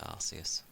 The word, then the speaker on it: Arceus: I know they changed how to pronounce that Pokemon's name, but I'm still gonna call it Arceus. Because that's how it was said.